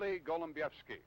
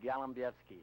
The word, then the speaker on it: Golombiewski: Golombiewski. You thought I was going to mispronounce your name, didn't you?